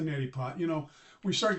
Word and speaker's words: neti pot: Okay, so you open it up, and you open up your little neti pot, and my brother calls it a Nelly pot, but that's okay. It's a neti pot.